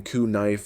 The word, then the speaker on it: knife: And for a while everyone walked around saying k knife and c knee like it was no big deal. But over time pronunciation softened. The tongue got lazy. English speakers dropped the K, but kept it in the spelling like a family heirloom nobody could throw away.